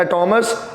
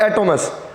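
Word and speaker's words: ἄτομος: इसको 2 तरह से प्रोनाउंस किया जाता है, एटोमस और एटोमस।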